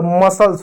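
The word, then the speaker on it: muscle: अब देखो एम यू एस सी एल ई एम को क्या पढ़ेंगे? म पढ़ेंगे। यू साइलेंट हो जाएगा। एस को क्या पढ़ेंगे? स पढ़ेंगे। एल कोहल मसल्स हो जाएगा।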